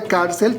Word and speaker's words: cárcel: con la palabra cárcel observa que la palabra cárcel termina en la consonante l y la mayor fuerza de voz está en la penúltima sílaba por lo tanto es